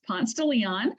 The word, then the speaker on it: Ponce de Leon: This street right here is actually named for Ponce de Leon, but in Atlanta, it is pronounced Ponce de Leon.